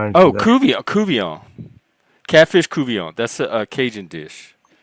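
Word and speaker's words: court-bouillon: it reminds me Oh, Ku Kian Catfish Kouon. That's a Cajun dish. Oh, is that that you saw the name? Yeah, it's spelled court buon, but it's pronounced Kuian.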